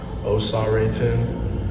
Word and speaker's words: Osagiede: My middle name in my tribal language is pronounced Osagiede, and in my tribal language that means God is power.